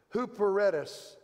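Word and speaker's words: ὑπηρέτης: word servant here is the Greek word that means under rower it's hooper ettus okay Hooper read us and that's the English pronouncing and an under roar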